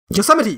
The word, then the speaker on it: Yosemite: mind is it wait is it yosemite that's what it's called hey i was like this doesn't seem right yosemite national park okay that that is really counter-intuitive how you pronounce that i know as